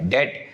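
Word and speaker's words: debt: डेट B silent, तो डेट investor बनना चाहता है।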